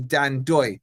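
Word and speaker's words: Dan Ndoye: And I think he gave some fantastic insight into Dan Doy. And by the way, you dropped the N just for you guys. If you're wondering, pronounced Dan Doy.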